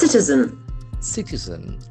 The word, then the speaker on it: citizen: Here we can feel the S sound. Citizen. Citizen. The accent falls on the first syllable.